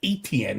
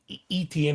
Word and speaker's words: Etienne: It's Travis Etienne. It's not Etienne that we thought.